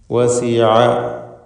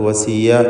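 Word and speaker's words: وَسِعَ: വസിഅ, ഐനിൻ്റെ ഉച്ചാരണം നേരത്തെ സൂചിപ്പിച്ചതാണ്. അത് വസിയ എന്ന് തെറ്റായി പലരും പറഞ്ഞു പോകും, അത് സൂക്ഷിക്കേണ്ടതാണ്.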